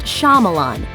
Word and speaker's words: Shyamalan: It might be tempting to insert the shy part of his name as it appears when it's spelled, but it's actually pronounced Shyamalan.